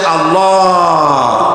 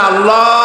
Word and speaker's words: আল্লাহ: হয় না কেউ বলে না আল্লাহ আল্লাহ পাকের উচ্চারণটা হচ্ছে আল্লাহ পাকের নাম হচ্ছে আল্লাহ মুখটা একটু গোল হয়ে যাবে বলেন আল্লাহ আল্লাহ সুবহানাল্লাহ পৃথিবীতে বিভিন্ন জাতি তার স্রষ্টাকে তারা